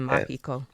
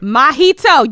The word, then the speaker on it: Mahito: a bunch of times you keep saying Mahiko what is his name mahito don't you have the castless right in front of you I can't pronounce the names it's like mojito but what a a